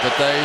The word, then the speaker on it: Bethea: By the way, a lot of people call him Bethea. We're calling him Bethea. Why? Because he introduced himself tonight as Antoine Bethea. And here is the three-syllable man right now.